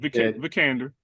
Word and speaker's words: Vikander: said it right, Vikander.